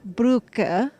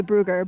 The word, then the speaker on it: Brugge: I'm sitting with Coach Brugge. I'm trying to say his last name. Pronounce it for me. Brugge. Brugge. We always say Brugger, but I know that's too American.